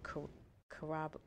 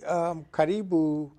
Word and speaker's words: Karibu: Bowie Town Center, you had to stop at Karibu. Say it one more time. Karibu. Karibu. You need to say Karibu. Am I saying it right? Yeah. Karibu. But was that your intention? Yeah, it really, Karibu really came out of my involvement and my